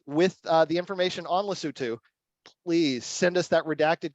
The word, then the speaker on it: Lesotho: I will not forget that this is Lesotho Lesotho is the way to appropriately pronounce this country and I apologize for the